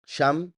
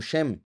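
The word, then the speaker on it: שם: se encontrarán ahí pero vean como esta palabra sham que es ahí también se puede pronunciar como shem que es nombre verdad Entonces los impíos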